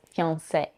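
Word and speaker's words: fiancé: pair of fune words both pronounced in French as fian the difference between the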